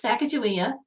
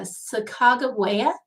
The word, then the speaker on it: Sacagawea: heard of um is sacagawea or let me try not to butcher it uh sacagawea i think is how it's being pronounced these days but it's the woman